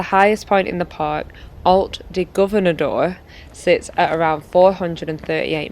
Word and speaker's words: Alt de Governador: But as the highest point in the park, Alt de Governador sits at around 438 m, offering some of the best views over Benedon.